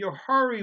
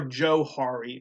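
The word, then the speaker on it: Johari: tool to you uh the yohari window it stands uh or joe hari excuse me and it's spelled j-o-h-a-r-i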